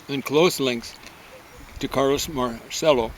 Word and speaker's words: Marcello: close links, to Carlos Marcello, or Marcello is a better pronunciation, the head of the mafia, and he's not a mafia associate.